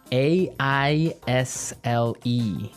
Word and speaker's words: aisle: We don't pronounce the S. The S is silent.